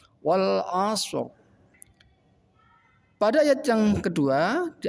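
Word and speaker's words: وَالْعَصْرِ: Ra mati lebih dibaca sedikit tebal. Contoh wal asr.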